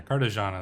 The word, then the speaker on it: Cartagena: And then presumably we're gonna keep Carthage and Cartagena. So, or Cartagena? Yeah, Cartagena, there we go. I always mispronounce that one.